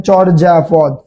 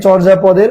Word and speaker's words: চর্যাপদ: যেমন দেখেন চর্যাপদ। এই চর্যাপদের জ এর উপরে কি রয়েছে? রেফ রয়েছে। তার কারণে কি? এখানে অ। তা আর বলছি শব্দের প্রথমে অ থাকলে অ এর পরে যদি রেফ থাকে তাহলে সেই রেফের উচ্চারণ কি হবে? ঔকার হয়ে যাবে রেফের উচ্চারণটা। তো তার কারণে এখানে চর্যা পদের চর। চর চওকার চর। আর এই রেফের উচ্চারণ র চর।